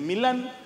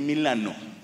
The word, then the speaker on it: Milano: ahí me explicaron que no se dice milán se dice milano yo no dije nada